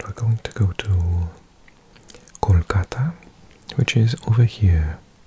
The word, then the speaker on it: Kolkata: going to go to Kolkata which is over here Kolkata or in English we often pronounce it calata he just on the